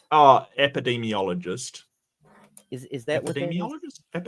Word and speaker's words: epidemiologist: Epidemicologist? Oh, epidemiologist.